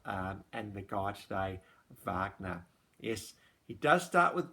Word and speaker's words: Wagner: thing beethoven mozart um and the guy today wagner yes he does start with w but you pronounce it wagner um so that's why it's under w so he lived from 1813 to 1883.